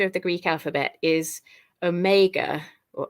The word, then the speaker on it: Omega: the last letter of the Greek alphabet is Omega or Omega and that printer and that says the sound